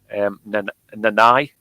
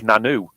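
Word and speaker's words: Nannau: Nanai. Pronounced or spelt, it looks like Nanu, but Okay. or Nanau. But it's pronounced Nanai, and it's the Nanai estate in on the other side of Snowdonia, Oh, wow.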